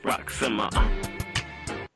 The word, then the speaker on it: RAQ: Well, this is Hey, this is Rock the Bell, spelled R AQ, pronounced R O C, co-host of the Working